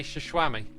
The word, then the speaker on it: Xisuma: It's pronounced Shishwam Bam, aka Shishwami, aka xisumavoid.